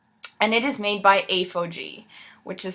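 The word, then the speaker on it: ApHogee: a protein treatment and it is made by a faux g which is spelled a ph 0 g ii ii and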